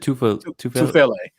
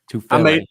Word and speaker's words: Tufele: Is it Tufalele? Tufele.